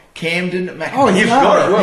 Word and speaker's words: Kamdyn McIntosh: And I always say his name wrong. KAMDYN McIntosh.